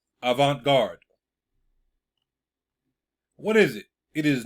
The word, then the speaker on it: avant-garde: is where it comes from right here let's pronounce it avant-garde avant-garde what is it it is new and unusual